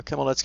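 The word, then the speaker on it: Khmelnitsky: a good question it's kudrin Kim nki uh Kimel netki is spelled k h ml e I'm sorry m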